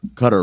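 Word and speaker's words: Qatar: because yesterday people were like well you you pronounced cutter right but why didn't you pronounce uh our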